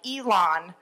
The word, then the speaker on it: Elan: And he wrote back, it's E-L-A-W-N, like Elan, salami. So, but instead of salami, which gets me to say it, Elan.